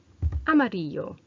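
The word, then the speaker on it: amarillo: which in Spanish is a MIDI yo and I've underlined that double L so that you know that that actually is pronounced more like a you sound and not an L AM early you're so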